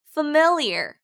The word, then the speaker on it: familiar: 다음 MIL은 강조되는 발음이라 모음 발음을 정확하고 강하게 발음하세요. mill, mill. 자, 마지막 IAR은 ear이라고 발음하시면 돼요. ear, familiar. 네, 단어 강세가 mill에 있기 때문에 familiar이라고 하지 않고 familiar이라고 발음하셔야 돼요.